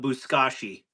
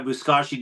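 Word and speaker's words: buzkashi: So, out of curiosity, did anybody um look look up buskashi?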